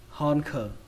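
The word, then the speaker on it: honker: Âm đầu tiên các bạn đọc là hòn. Âm thứ hai xuống giọng khờ, hòn khờ, hòn khờ.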